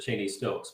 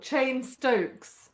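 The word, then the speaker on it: Cheyne-Stokes: only read read it so I've I just pronounced it Cheney Stokes but it's called it's not called chain stoking at all. It's not. It's called chain stokes. That's what you said like the name chain stokes is an abnormal breathing pattern.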